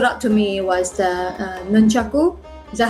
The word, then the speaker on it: nunchaku: to me was the nunchaku. Is that how you call it? Nunchucks. Nunchuck. Depend how you pronounce it, and depend what country are you from. People certain country pronounce it differently.